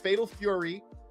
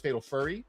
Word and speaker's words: Fatal Fury: It's Fatal Fury. We do have to like really be careful with our pronunciation because I know in the past we were hanging with Ash in chat and she thought it was Fatal Furry and that became a big issue.